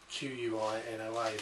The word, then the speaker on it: quinoa: this is uh it looks like it's called quinoa q-u-i-n-o-a this actually pronounced quinoa now this is a fantastic alternative